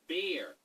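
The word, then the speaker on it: Bier: Oh, it's pronounced beer, and it means beer.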